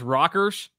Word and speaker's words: Rockers: That's pronounced Rockers? Yes, that is actually pronounced Rockers. That's good.